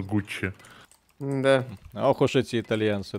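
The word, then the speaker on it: Gucci: Пусть радуется, что тебе все знают, как что их называть Гуччи, а не Гукки. Гукки? А кто-то назвал Гукки? Ну, оно же читается как Гукки. Это же надо знать, что оно Гуччи.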